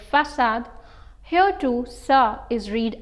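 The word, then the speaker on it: façade: not forget how you asked sava and said facade here too sir is read as sa so having this changes the pronunciation of c as ker to so finally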